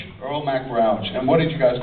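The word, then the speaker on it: Earl Mac Rauch: The the writer, how do you pronounce the writer's name? I've never known how to say it. Earl Mac Rous. Earl Mac Rouch.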